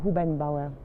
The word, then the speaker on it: Hubenbauer: Pronunciation? Hubenbauer.